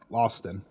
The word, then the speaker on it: Lothston: How do you pronounce that name? House Lawston. Loston? Yep, Lawston.